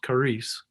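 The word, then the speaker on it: χάρις: They looks like XAPIC, but it's pronounced charis.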